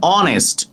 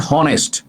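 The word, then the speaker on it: honest: এইজন্য এন বসেছে এন অনেস্ট অনেস্ট নট হনেস্ট অনেস্ট অনেস্ট উচ্চারণটা অ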